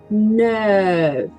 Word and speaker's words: neuf: O nef é boquinha de o e pronuncio E. Neuf.